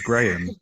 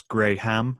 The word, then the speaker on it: Graham: Well, they really go hard on the H. So instead of coming out as Graham, it comes out as Graham, and that's really I